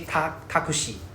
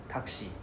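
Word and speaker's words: タクシー: In Japanese, we say ti, right? Taki. We don't say takushi, right? So, we don't say takushi, we say taki, for example. Right? The U is silent. Takshi.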